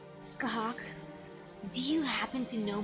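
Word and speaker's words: Scáthach: Okay, pronounced your name correctly, yes, so it was Skahak, right? Skahak, do you happen to know my nickname?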